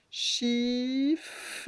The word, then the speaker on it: chiffre: Chiffre. Les deux F qui font f, f, fr, et encore un R. Fre. Donc le E, on ne l'entend pas beaucoup quand on dit chiffre.